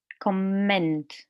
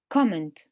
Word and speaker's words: comment: In the verb, the stress is on the second part here. So we say comment. What about here? In the noun, the stress is on the first syllable.